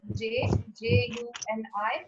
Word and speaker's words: Juni: So I'm writing with J-U-N-I, but I'm saying Juni.